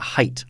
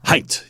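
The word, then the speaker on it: Haidt: the things i enjoyed in this article jonathan pronounce it height height yes a-i-d-t yes one of the things i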